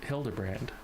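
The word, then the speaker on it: Hildibrand: It's pronounced Hilderbrand.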